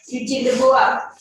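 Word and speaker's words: Eugène Dubois: Yang akan kecuali ya, yang kalian pasti sering dengar ya, Eugene de Bois ya, tulisannya Eugene de Bois ya, bacanya Eugene de Bois.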